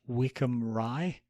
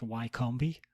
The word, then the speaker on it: Wycombe Rye: people who need to actually understand the English, Wickham Rye, which we made a big deal at the time about the fact that you thought it was actually pronounced Wycombe, because that's how it's spelled.